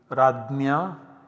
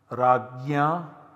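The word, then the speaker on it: राज्य: So we get the form Rajya. Once again this is pronounced differently, Radnya, Ragya as well as Ragna in different parts of modern India.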